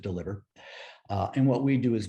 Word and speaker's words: DLVR: the ceo of deliver spelled with no vowels so dlvr but we pronounce it deliver and what we do